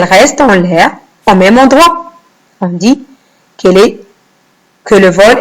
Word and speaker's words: endroit: Endroit avec une lettre muette à la fin. La lettre T. je la vois, mais je ne l'entends pas.